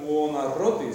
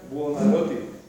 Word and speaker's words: Buonarroti: En italiano no tiene la R, así que no es Buonarroti, sino que es Buonarroti.